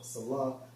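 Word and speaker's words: Selah: Now, when you go into that term Salah, because you see that term in Psalms a lot, in Strong's H5542 pronounced as Salah, which means a technical music term, probably showing pause and interruption.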